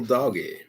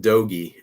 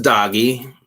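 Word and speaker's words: dogie: It's just doggy. A lot of folks think it's a doggy, but it's a doggy. Doggy is an actual term for like calves. And it's spelled, was it D-O-G-I-E, D-O-G-G-I-E, something like that. Kind of like doggy, but not doggy.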